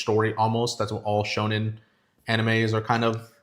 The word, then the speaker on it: shonen: So One Piece is a shonen anime or shonen anime, which is for young teenagers. You're supposed to like, it's like a coming of age story almost. That's what all shonen animes are kind of.